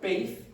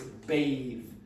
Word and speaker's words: bathe: It's a ba ba. There's vibration here. So, it's not bathe, it's bathe.